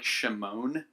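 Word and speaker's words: שמעון: in verse 33 I'm Simeon or in Hebrew be pronounced more like shim ohn which sounds a lot like it really comes from the Hebrew word to fear you've heard of the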